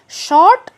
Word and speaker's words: short: हमने अभी अभी बोला, शॉर्ट वर्ड में आर का साउंड साइलेंट होता है, यानी कि हम आर का र साउंड नहीं निकालते, हम शॉर्ट बोलते हैं।